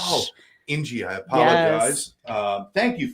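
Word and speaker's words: İnci: Like Angie, but Ng means pearl. But there's no G in there. Turkish, I know. C is like a soft G in Turkish. Oh, Ingy, I apologize.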